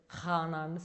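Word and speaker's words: חנן: தமிழில் அப்படி ப்ரொனவுன்ஸ் பண்ணால் கானான் வரும், பட் ஹீப்ரூவில் ப்ரொனவுன்ஸ் பண்ணி ஹானான்னு சொல்லுவாங்க.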